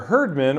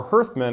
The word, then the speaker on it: hearthmen: And if you look, each faction is going to have their herdmen, or hearthmen as it's actually pronounced, which are your stronger warriors.